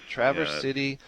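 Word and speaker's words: Traverse City: that you live in how do you pronounce it is it Traverse TR City yes Travers City Michigan yep Northern lower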